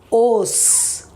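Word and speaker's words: ओस: Os, os. When you say O, finally where the tongue goes and touches, near the teeth. Os. I hope you feel it.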